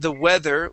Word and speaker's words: weather: had some th's here you had said uh the weather using a z sound and the weather was really hot practice those th sounds the weather and and